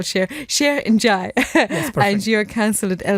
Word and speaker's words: Cheikh Ndiaye: Well, Cheikh isn't spelled like I would spell Cheikh. Cheikh Ndiaye.